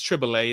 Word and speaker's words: Triboulet: How do you say that name? Tribute, Triboulet. Tribulate. Okay. It's Triple A. I was saying Triple A a lot of times because people kept saying Triple A, Okay. but it's it's Triple A. It's a French word.